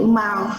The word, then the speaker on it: mouth: Bao nhiêu bạn đọc là chữ mouth và kết thúc là mình phải có the tip of the tongue between the teeth, right? Mouth là mới đúng.